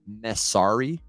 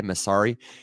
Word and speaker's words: Messari: there's a company called Messari, spelled like mess, like man, that's messy, A-R-I, Messari.